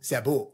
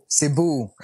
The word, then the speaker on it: Cebu: ista ganon Di ba Cebu Cebu yun yung kayo kasi mga foreigner eh Cebu Cebu pa kayo E CEU lang eh Oo e kasi matagal